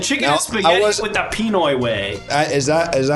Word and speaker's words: Pinoy: He's really stretching out the peen, the first syllable there. Pinoy.